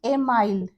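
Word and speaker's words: Émile: इसके ये ना क्वेश्चंस मतलब आते हैं कि एमिल, एमिल कहीं होता है, कहीं एमाइल इसको प्रोनाउंस करते हैं, हिंदी में एमिल पढ़ते हैं, कि एमिल बुक की रचना किसने की थी, तो रूसो ने की थी।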